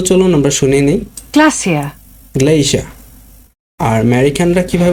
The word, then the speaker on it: glacier: গ্লেশিয়ার্স আমরা যদি American accent follow করি বা আমেরিকান প্রনাউন্সিয়েশন ফলো করি তাহলে এটার উচ্চারণ হবে গ্লেশিয়ার্স, বাট আমরা যদি ব্রিটিশটা ফলো করি তাহলে হবে গ্লেশিয়া। অনেকে আমরা এটা উচ্চারণ করি গ্লেশিয়ার, বাট এটার সঠিক উচ্চারণ হবে গ্লেশিয়ার্স ইন আমেরিকান অথবা গ্লেশিয়া ইন ব্রিটিশ।